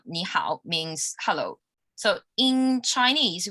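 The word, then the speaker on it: 你好: chinese phrase it's called nihao means hello so in chinese we use pinging to pronounce the words and it has four intonations for nihao both characters are the third intonation so me and how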